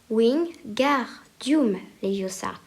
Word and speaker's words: Wingardium Leviosa: Il faut dire Wingardium Leviosa, en accentuant bien sur le gar.